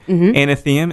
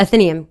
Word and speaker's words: Athenaeum: Anathema, is that the right way to say it? Athenaeum. God Correct. damn it. See? What were you saying? Athenaeum? No, Anathema, I flipped it. Oh, yeah, you flipped it around a little bit.